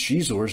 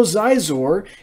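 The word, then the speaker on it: Xizor: In the Steve Perry novelization of Shadows of the Empire, a malfunctioning droid actually pronounced Shizor's name like Shizor. That's why I pronounce his name that way. I guess because the author wanted it pronounced that way. Although Zizor is also acceptable. That sounds like a medication, but hey, it also works.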